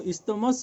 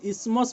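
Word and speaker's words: isthmus: पार्टटा द इस्थमस ए देखो इनु इस्थमस बोली पढुचु किंतु एबे इताके इस्मस बोली पढ़ा होचे टीएस टा साइलेंट ही आसी पिले हला तो जेंता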